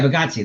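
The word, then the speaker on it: Bargatze: Yeah, Bagazzi.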